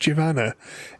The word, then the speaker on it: Jivana: We are playing a game that we've established is pronounced Jivana.